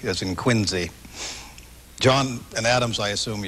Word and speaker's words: Quincy: I always understood you pronounced the C in Quincy as more like a Z, as in Quincy.